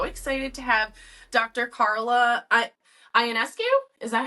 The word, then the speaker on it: Ionescu: Carla Ionescu. Is that how you pronounce it? Ionescu works.